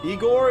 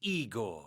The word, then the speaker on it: Igor: Igor and Elizabeth. Hold on a second. Can I My name is Eigor.